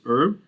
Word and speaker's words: herb: Now, the word herb, in America we pronounce it herb. In the United Kingdom, it will be herb. They will pronounce the H.